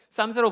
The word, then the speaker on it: psalms: P랑 L은 묵음입니다. psalms라고 부르는데 이건 어떤 뜻이냐면요, 원래 헬라어, 그리스어 프살모스라는 단어에서 온 건데 뭐냐면 현악기에 맞추어 부르는 노래라는 뜻이래요.